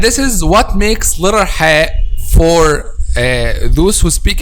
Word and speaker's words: ح: when they pronounce letter hai which is they pronounce it like letter h in english okay they pronounce it